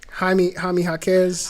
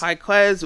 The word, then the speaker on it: Jaime Jaquez: Jaime Jaquez. Jaquez.